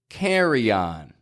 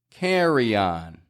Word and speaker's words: carry-on: about carryon carryon now the why in there may be a little clearer for you because it's actually spelled right carryon however the difficulty that a lot of folks run into is using that why to connect the words carry and on if your native language